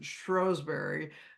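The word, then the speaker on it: Shrewsbury: very well researched she lived in Shrewsberry or as they pronounce it strowberry um where this Benedictine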